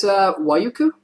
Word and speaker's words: Waiuku: Is it Waiuku? That's correct.